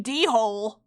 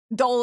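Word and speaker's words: dhole: a benturong, and Usuri D-hole, Usuri D-hole, and giant leaf insect. So I got a bunch of fucked up little guys. Ah! Dole is how it's said, if that's spelled.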